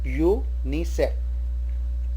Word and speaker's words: UNICEF: Same way, UNICEF program, UNICEF, and starts with the pronunciation of YOO type U, so we say a UNICEF program.